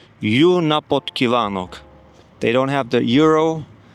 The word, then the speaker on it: Jó napot: I don't even know how to pronounce it. It's uh Let me check it on on Google. Sounds like this. Yunapotan. Yunapotan.